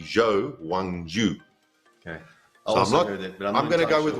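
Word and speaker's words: Zhou Guanyu: him in fb2 and they call him wang yu-jo but apparently his name is actually jo wang ju okay i'm gonna go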